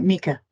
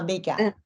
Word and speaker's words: Mika: That's right, Mika. Rhymes with Eureka. Oh, Mika.